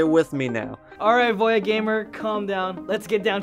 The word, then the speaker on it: VoiaGamer: My channel is pronounced VoiaGamer. VoiaGamer.